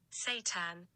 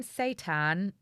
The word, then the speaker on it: seitan: coming in honestly it's the devil's meat satan that's quite bad satan that's it's not it's satiated maybe that's why they're pronouncing it station they've gone what should we